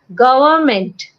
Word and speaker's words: government: it yeah this one government huh that time it became government government or something like that government government not go it's government government government government n is silent government government yeah oh